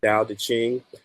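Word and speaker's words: Tao Te Ching: book ever written um the dial that's spelled with the t a o t c h i n g um so I'd say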